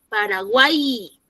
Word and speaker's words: Paraguay: Paraguay suena como I, Paraguay.